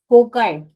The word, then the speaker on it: cocci: Shapes are there, कौन कौन सी, first is कोकाई, COCCI, spelling याद रखनी है सबको, ठीक है।